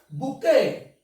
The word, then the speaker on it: bouquet: It is called bouquet.